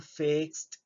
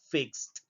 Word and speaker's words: fixed: Entonces la terminación ed la vamos a pronunciar como una letra T.